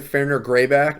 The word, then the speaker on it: Fenrir Greyback: Fenrir Greyback?